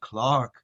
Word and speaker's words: clerk: with an E, but in England, they pronounce it Clark.